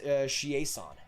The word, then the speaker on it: Chiasson: I'm President Chiasson is pronounced Chiasson. English people always pronounce it wrong.